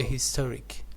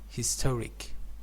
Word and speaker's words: historic: a not n a historic historic you know historic Supreme Court ruling uh yeah uh so here actually H is not silent it is pronounced so uh Supreme Court